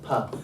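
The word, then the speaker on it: π: This is pi, and it's pronounced pa, but it's the s pa. So instead of pot, this is spot. It's that p. Okay, makes sense? Because this is a soft p.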